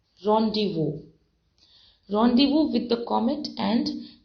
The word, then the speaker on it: rendezvous: days were we call it something here it's pronounced as rendezvous see the spelling r-e-n-d-e z-v-o-u-s but it is pronounced as rendezvous meeting place